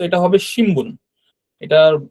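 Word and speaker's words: しんぶん: মনে রাখারও প্রয়োজন নেই তারপর আমি বলে রাখছি যে এটার উচ্চারণটা অনেকটা ম এর মত করে হবে এগুলো ভুল হলে কোন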